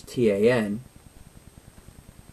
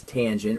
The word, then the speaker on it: tangent: Tangent, we abbreviate that with the three letters T-A-N. We still pronounce that as tangent. We don't pronounce that tan.